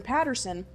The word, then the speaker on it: Paterson: because I'm guessing that Katherine Peterson or Patterson oh wow I've been pronouncing her name wrong this entire time Katherine Paterson I'm guessing she wanted